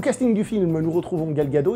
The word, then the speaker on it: Gal Gadot: Au casting du film, nous retrouvons Gal Gadot, il paraît qu'il ne faut pas prononcer le T à la fin, donc Gal Gadot.